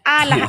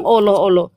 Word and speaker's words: Allah: Double L di situ kau sebut alah alah. Alah. Pantasnya alam Allah. Dou L. Kau aja enggak pandai ejaan berbahasa Indonesia yang baik dan benar. Allah. Enggak ada bilang oloh-oloh. Ada orang bilang Allah.